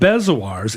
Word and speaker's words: bezoar: I think it's straight up bezoar. Rhymes with like Eeyore.